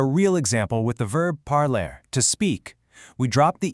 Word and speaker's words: parlent: The e, e s, and ent make literally zero sound. So, the pronunciation simply stops dead at the letter L.